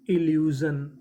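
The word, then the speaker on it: illusion: कहने का मतलब एल 2 बार है, पढ़ेंगे खाली 1 बार। तो मीनिंग क्या बनी, ILLU इल्यू, SION जन, इल्यूजन, इल्यूजन, इल्यूजन का मतलब होता है भ्रम।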